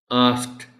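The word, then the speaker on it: asked: नहीं, इसमें टी की हल्की सी आवाज़ आपको आएगी आखिर में डी की जगह. एंड the correct pronunciation of the word is आस्क्ड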